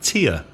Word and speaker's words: tear: and often is tear now tear the infinitive te AR looks like tear lagrima yeah but when it's a verb the pronunciation is tear in the past simple tour and the past participial torn for example I tore